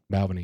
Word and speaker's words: Balvenie: Is that how you pronounce it? Balvenie, yep.